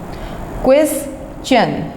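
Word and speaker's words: question: आप बोलते हैं तो आप क्वेश्चन की सही प्रोनाउंसिएशन नहीं करते, आप इसको क्वेश्चन बोल जाते हैं। तो मेरी बात याद रखिएगा डियर स्टूडेंट्स कि इसमें आपने चे की साउंड निकालनी है। ये देखिए, क्वेश्चन, क्वेश्चन, चे की साउंड निकलेगी।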